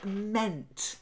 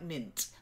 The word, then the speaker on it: meant: other Ducks okay then meant not like mint mint like men with a mint try it that's it